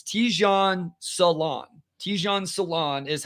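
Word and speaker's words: Tidjane Salaün: Tijan Salon is how it's pronounced according to that.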